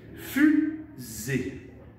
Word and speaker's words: fusée: Fusée. Il y a deux syllabes. Il y a une lettre qu'on n'entend pas à la fin du mot.